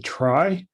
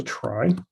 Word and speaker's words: trie: So the first idea is the one called a try. And I think that's the right pronunciation, at least that's the way I learned it. But I'm not actually sure that it's try.